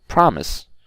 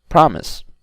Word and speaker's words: promise: are some exceptions like the word promise right promise the stress is on the first syllable and offer okay offer